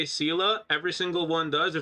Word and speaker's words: Seele: when you're like, actually, it's actually pronounced Sela. I said Sela because that's the way it's pronounced. It's a German word, and the word is taken from the German orientation, and it's brought into the game that same way.